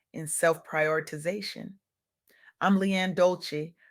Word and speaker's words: Dolce: I'm Leanne Dolce, pronounced doulce.